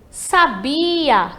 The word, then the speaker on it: sabia: E sabia, que vai ser ali a né? Entre o sa e o a, temos a sílaba bi, que vai ser a tônica aí.